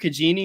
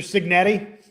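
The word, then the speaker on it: Cignetti: They um shout out uh is it Kurt Kagini? Is that his name? Did I say it right? Mr. Signetti. Signetti.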